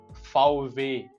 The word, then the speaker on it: VW: महसूस होता है, क्योंकि असल में जर्मन लैंग्वेज में इसको कहा जाता है फाउवे। फाउवे इसकी असल प्रोनाउंसिएशन है।